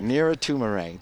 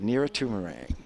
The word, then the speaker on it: Nira Tumarang: Nira Tumarang. Nira Tumarang. The G is silent. That's right. Right, Nira Tumarang.